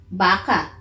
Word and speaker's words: baka: Baka. Baka? Like Rebecca? Rebecca? Rebecca? No. Like, if that have the same name as Becca. Becca. Baka. Becca. Okay. Sort of. Does it rhyme? Becca, baka.